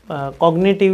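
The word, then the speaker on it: cognitive: ना कॉग्निटिव learning theory इसमें कभी-कभी मैंने जी भी साइलेंट देखा कभी एन भी साइलेंट सुना है तो कॉग्निटिव ही बोल दो अपने तो कॉग्निटिव लर्निंग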